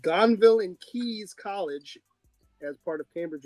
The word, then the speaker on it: Caius: It's called Gonville and Keys College as part of Cambridge University. All right. All right. Let's get into some numbers And Keys now.